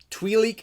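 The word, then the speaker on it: Twi'lek: know there are two ways to say it twilik and Twilight um just say twilight because it's easier on my speech impediment even though I like tweet leak a little better in terms of pronunciation uh but I Twilight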